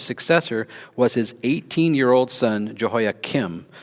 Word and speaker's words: Jehoiachin: Jehoiakim's successor was his 18-year-old son, Jehoiakim. So one's with a K, one's with a CH, but you pronounce them pretty much the same.